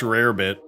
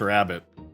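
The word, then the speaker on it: rarebit: Yeah, they get uh they Wales has Welsh rabbit or Welsh rarbit, which I always mispronounce as Welsh rabbit.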